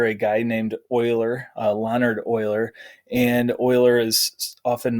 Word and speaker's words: Euler: is named after a guy named euler leonard oiler and euler is often mispronounced so it's pronounced like that word euler